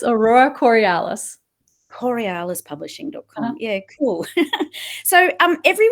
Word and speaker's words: Aurora Corialis: How do you pronounce that? It's Aurora Corialis.